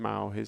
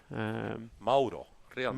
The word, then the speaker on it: Mauro: Mauro. Mauro. Sorry. My pronunciation is Mao not... is for Mauricio. Okay. Mauro is Mauro, directly.